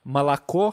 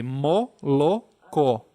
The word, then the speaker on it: молоко: Então, malacó, que é leite, que eu já expliquei, a gente fala... Não, se escreve molocó, tá? Se escreve molocó, mas se fala malacó. Então, parece que substitui o O pelo A, mas na verdade é malacó.